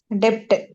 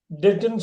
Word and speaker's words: debt: அந்த B-ய உச்சரிக்க கூடாது. இப்ப கரெக்டா எழுதிக்கீங்க. யூஎஸ்லயும் சரி, யூகேலயும் சரி, அமெரிக்காலயும் சரி, பிரிட்டன்லயும் சரி. சோ இது பாத்துக்கங்க. கடன்னு சொல்ற டெட்னு சொல்லணும். டெப்ட்னு சொல்லக்கூடாது.